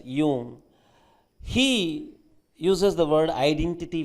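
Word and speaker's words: Jung: the word you know j-u-n-g it is pronounced as yoon he uses the word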